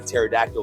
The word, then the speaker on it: pterodactyl: Why do scientists believe that you couldn't tell when a pterodactyl was going to the bathroom? Well, because the P is silent.